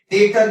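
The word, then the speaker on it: debtor: Next 6 number अब हम लोग जानेंगे डेटर क्या है। इसे डेटर कहा जाता है, डेटर नहीं कहा जाता। यहां पर डी साइलेंट रहता है।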